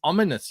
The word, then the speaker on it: Ominous: Everyone make sure you go and back Elliot's new book, It's Ominous, yeah? Is how you pronounce it.